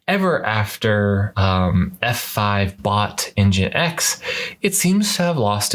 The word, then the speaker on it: nginx: and whatnot but ever after um f5 bought engine x it seems to have lost its roots a